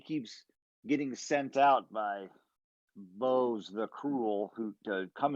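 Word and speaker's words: Bohze: the charred he keeps getting sent out by bows the cruel who to come and destroy our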